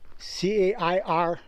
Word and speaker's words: cairns: C-A-I-R-N-S. I'm pretty sure it's pronounced cairns.